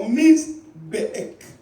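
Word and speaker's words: mizbeach: The word altar comes from misbek. Misbek. Let me pronounce it for you. M-I-Z-B-E-A-C-H. Misbek or Mizbeek. Mizbeek. If I were to pronounce.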